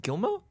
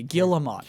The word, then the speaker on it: Guillemot: It's not Gilmo? Guillemot. You pronounce the T? L's and the T. Guillemot. Here comes the correction. Okay. What the okay. hell? It's okay. Guillemot. It's Guillemot.